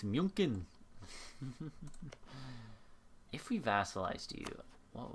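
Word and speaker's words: München: yeah so oh no munchin it's not it's not pronounced like that it's munin if we vassalized you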